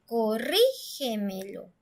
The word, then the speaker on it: corrígemelo: En el siguiente ejemplo dice corrígemelo, corrígemelo. Entonces la sílaba tónica suena clarito, suena muy fuerte en la sílaba antes de la antepenúltima sílaba, porque esa es la